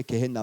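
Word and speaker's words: 게헨나: 그래서이 개나가 개헨나가 헬라어로 이제 개헨나 발음이 나오는 건데 이게 신약에서 12 번 나와요.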